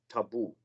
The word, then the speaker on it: tabu: were in already, and we pronounce them taboo.